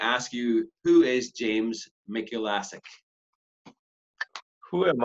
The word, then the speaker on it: Mikulasik: Am I pronouncing your name properly? Actually, it's Mikulasik. Mikulasik. Some people pronounce Mikulasik, some people pronounce Mikulasik, but I go by Mikulasik.